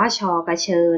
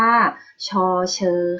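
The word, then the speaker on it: ฌ เฌอ: พูด ผิด นะ คะ ชอบ บอก ว่า ชอกะเชอ นะ คะ ไม่ ใช่ ชอกะเชอ นะ คะ ตัว นี้ เรียก ว่า ชอ เฌอ ค่ะ ติด อ่าน ตาม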